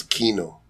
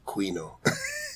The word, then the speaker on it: Quino: you and you know here in the Philippines you guys know how to pronounce Kino yes a lot of places they go they go Quino oh there was actually